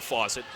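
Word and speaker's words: Fosat: the other faucet Payton same pronunciation different spellings of the name f o s a t for Cole faucet F A for pton faucet now there's a drive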